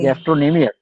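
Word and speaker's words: gastrocnemius: सिनेमस, ईमियस हाँ, नहीं, तो ये वाली गैस्ट्रोइमियस इज साइलेंट, ओके, गैस्ट्रोनेमियस।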